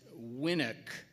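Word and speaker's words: winnock: all right all right your word then is winick it's a noun and it's a Scots word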